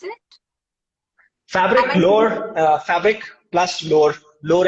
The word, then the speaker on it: Fabriclore: course you co-founded fabric firstly how do you pronounce it fabric lower uh fabric plus lower lower as in a